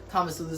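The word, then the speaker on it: Tomasulo's: The main difference between tomasulus, oh, I pronounced it right, tomasulus algorithm and scoreboard is just the tomasulus just has like this, the control logic is keeping track of the reservation status.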